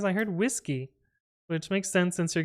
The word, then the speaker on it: WSGI: It was intentionally chose as that initialism so that it's pronounced whiskey, but yeah.